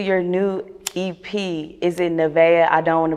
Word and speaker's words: Nevaeh: And it's Nevaeh, right? Yeah. Okay, I don't want to mispronounce it.